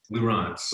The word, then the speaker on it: Lieurance: Did I pronounce Lieurance? Lieurance. Lieurance, okay. I got John Lieurance.